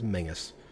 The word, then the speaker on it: Menzies: That's Menzies for anybody else. Yes. It's apparently technical pronunciation is Mingus.